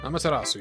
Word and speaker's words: Amaterasu: Is that how you pronounce it? Amaterasu? Amaterasu, yes.